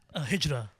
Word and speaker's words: Hijra: And how you pronounce it again? Hijra.